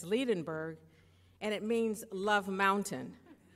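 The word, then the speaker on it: Liebenberg: the direct women for my award how to pronounce her last name properly and she said it's ledin berg and it means love mountain and she has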